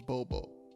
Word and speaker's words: Bobo: Like I thought I wanted to say boo, but it was Bobo. So yeah, it's Bobo. It's not the same.